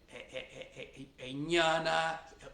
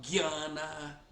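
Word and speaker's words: ज्ञान: E o sotaque bengali tem coisas de diferença, por exemplo, não só tem Ramo, às vezes você fala Jnana, na Bengala é falado Gyana, kshetra fala ketra, mesmo a palavra yoga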